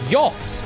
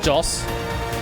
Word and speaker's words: Jos: Watch the pronunciation on this. It's Yoss, not Joss.